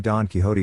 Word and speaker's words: Quixote: life not realizing that the name Don Quixote sounds out donkey in its first two syllables until today.